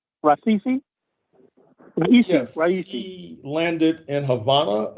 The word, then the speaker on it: Raisi: How do I pronounce his last name? Raisi. Raisi.